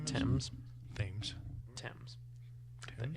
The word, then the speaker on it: Thames: I believe the river's name is Thames. Thames. Thames. Thames. The H is silent.